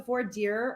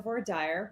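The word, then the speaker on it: voir dire: that is what the the four dear or for a dire process depending on how however you pronounce it whatever jurisdiction you're in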